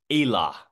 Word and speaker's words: Elah: Well, it actually starts with E. It's Elah.